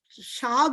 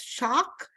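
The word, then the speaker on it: শাক: meal also the the not the conventional shag we pronounce we pronounce it as shock k h and it is various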